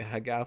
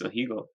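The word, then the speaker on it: ahegao: No, I think Didi doesn't want to talk about anime and the Hagao face.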